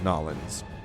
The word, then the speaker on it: New Orleans: And then there is the native pronunciation of the city, which is Nolans.